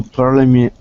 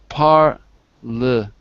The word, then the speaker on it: parliament: Elected to parliament. Not Leah, but parliament. Parliament.